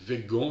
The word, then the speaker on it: végan: ou weygand et oui je prononce weygand je pense que c'est bien de franciser ce thème anglaise je lis quelques accents